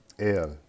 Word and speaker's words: El: This first one here is el, el, kind of like ginger ale, okay?